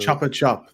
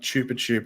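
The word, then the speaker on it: Chupa Chups: The Chopper Chop. That's how you pronounce it. Not Chupa Chup or whatever you're saying.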